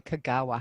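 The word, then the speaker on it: Kogawa: participated in a two-month residency at the joy Kagawa house am I pronouncing that properly yeah okay and that was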